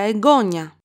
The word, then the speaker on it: εγγόνι: Here we have the noun εγγόνι with a iota and an accent on the second syllable from the last.